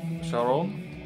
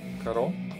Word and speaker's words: Charon: This album is called Path to Charon, or Charon, how you want to pronounce it.